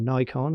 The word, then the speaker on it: Nikon: This is a Nikon, because I shoot Nikon, or Nikon as the Americans say.